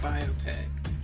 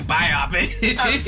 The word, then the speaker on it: biopic: their answer good answer it's pronounced biopic it's just's like you keep saying biopic sorry and it's like